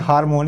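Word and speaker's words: harmony: हो जाएगा हमने इसको कुछ लोग करते हैं हार्मोन यार वही नहीं वैसे करते हैं सख्त वंश दें कि सही बात करें तो उसमें अर्थ होता है ना वह साइलेंट रहता है हम नहीं बोलते क्या बोलते हैं हारमोनी तो इसका रिजल्ट ऑप्शन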